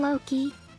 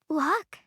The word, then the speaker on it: Locke: do you call him Loki? Yeah. His name is Locke. Locke? Okay, so neither of them? I mean, that's... I mean, any other time I've seen L-O-C-K-E, it's been pronounced Locke.